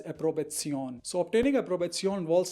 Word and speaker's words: Approbation: known as an approvezion in English it is pronounced as approbation but in German language it is pronounced as a probation so obtaining a probation